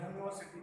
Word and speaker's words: university: यहाँ पे जो है उच्चारण जो हो रहा है यूनिवर्सिटी, तो य का साउंड आ रहा है, ना कि यू का साउंड आ रहा है।